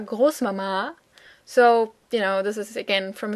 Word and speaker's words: Großmama: It's kind of old, which you can also see from the fact that it is pronounced with the emphasis on the second A, Großmama.